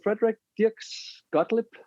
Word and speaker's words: Frederik Dirks Gottlieb: it um but yeah my name is Frederick di sclip is how you say it in Danish and um I'm a